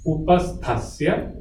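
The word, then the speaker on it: उपस्थस्य: It is TH. So Upasthasya.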